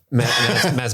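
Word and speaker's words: Mads: me excuse me um Mass Mickelson do you know you don't pronounce the d if they ever do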